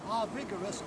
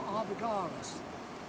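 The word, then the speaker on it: Arviragus: The king of this area was Arvigarus or Arvigarus, depends which way you want to pronounce it.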